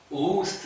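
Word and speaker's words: August: 서양에서는 어떻게 이걸 발음합니까? 오구스트 이렇게 말해요.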